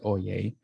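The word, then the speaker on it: Oyez: to a website called oye even though it's spelled o y e z you pronounce it oh yay so oia is a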